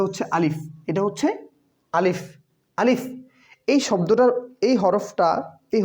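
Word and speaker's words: ألف: আলিফ। এই শব্দটার এই হরফটা এই হরফটার উচ্চারণ এভাবে হবে যে আলিফ।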